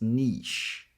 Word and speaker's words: niche: Now option two I actually sounds like e as in c free and tree. So it's a tense sound. So the tongue is a bit higher. E e. And the second syllable is pronounced as an sh sound as in she. So it's niche.